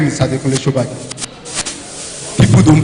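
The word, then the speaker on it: Sobajo: Shobaki. Shobaki, not Shobaki. Hello, Mr. Slide. Any updates? My name was always on my slide. Adekunle Shobaki. It's displaying there. There's no H.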